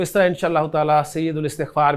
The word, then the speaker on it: استغفار: अलग से मैं लफ्ज़ बोलूँ तो मैं बोलूँगा इस्तिग़फ़ार।